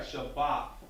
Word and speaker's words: Shabbat: The first time you had it right, Shabbat. Very good. Very good, sis. Very good. Okay. So now we have Shabbat, which should mean Sabbath.